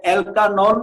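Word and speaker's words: alkanol: অ্যালকোহলের নামকরণের শেষে এটা অ্যালকানল উচ্চারণ হবে।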